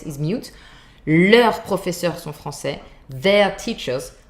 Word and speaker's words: leurs: In that case, you see, if you have a word that starts with a vocal like friends, for example, amis, you would say leurs amis sont français. Leurs amis. You would do the linking with the final S. Leurs amis sont français. Their friends are French. That works too. But if it's a normal consonant, then you don't hear the final S. You write it though.